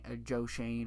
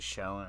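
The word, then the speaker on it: Schoen: Josh Shane, I think, is how you pronounce his name. It's it's spelled out Showen or whatever, but I think it's Joe Shane or whatever, the GM for the Giants. He's all about. I always pronounce it Showen, right?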